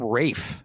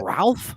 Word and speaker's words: Ralph: okay let you know why do people pronounce his name Rafe isn't it Ralph no no it's Rafe that's how he yeah